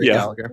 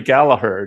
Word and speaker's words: Gallagher: It's the the Gaelic pronunciation is uh making the second G silent, but uh us Americans are just going to pronounce it the way we want.